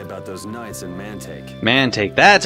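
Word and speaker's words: Mantaic: has to say about those knights in manake manake that's how you pronounce it man Assuming he's still in nordopolica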